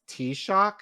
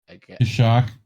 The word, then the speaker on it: Taoiseach: Chino said it's pronounced Taoiseach. Taoiseach. Gaelic's weird.